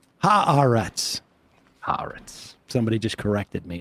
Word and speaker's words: Haaretz: I saw Mamdani shared that Haaretz article today. Oh, he did? Mm-hmm. Well, that's part of the global jihad that Kristen Gillibrand was talking about, spreading Haaretz articles. That's right. Haaretz.